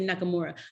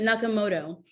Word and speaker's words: Nakamoto: wrote it down because i always get the last name wrong satoshi nakamoto not i always want to say nakamura but nakamoto um anonymously created this